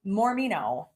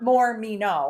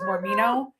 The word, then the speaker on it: Mormino: last name again mormino so not Moro I always thought it was Moro Moro came from trying to pronounce her name which is mormino it's m o r